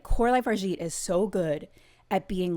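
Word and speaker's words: Coralie Fargeat: Yeah, you got Coralie Fargeet.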